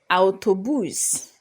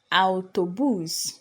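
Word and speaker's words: autobús: it we also have autobus autobus so the A and the U are pronounced separately not o as we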